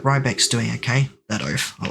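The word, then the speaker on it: Riebeck: Day 48, still not picking up Rebeck's banjo from Brittle Hollow. I'm sure they're fine. Did I say Rebeck? I changed the pronunciation. Rybeck.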